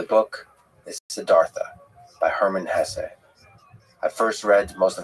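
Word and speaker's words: Hesse: I've heard some people say Hess, but my whole life I've always said Hess.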